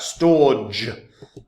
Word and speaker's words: Storj: of it try the service out guys Right Storage I know it's pronounced storage but so um already at a